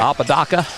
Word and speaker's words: Apodaca: Apodaka, is that how you say it? You pronounce it for me. Apodaca.